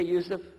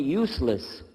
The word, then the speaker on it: Yusuf: work on it shaolong my name is Yusuf do you say Yusuf let me say you said you're very good I wish you teach my wife she keeps mispronouncing it she calls me useless humbly now how many